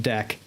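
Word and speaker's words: deque: you know that so dec d q u e is double ended queue very useful data type for certain purposes but people would type it deck like deckers and dc because it's phonetically what it sounds like exactly and so as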